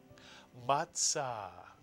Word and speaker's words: matzah: And now using the Tzadee, pronounce the second syllable. Tza is correct. Put the word together and you get matzah, matzah.